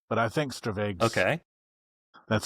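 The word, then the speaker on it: stravaig: Well, I pronounce it stravag. Um, it's a Scottish word and I'm not Scottish, but I think stravage.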